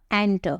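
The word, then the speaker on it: enter: वैसे ही आप बोलते हो एंटर, कई लोग पता है एंटर बोलने के बजाय क्या बोलते हैं, इंटर बोलते हैं। लोग गलत इसका प्रोनाउंसिएशन करते हैं, सही मीनिंग क्या होगा, एंटर।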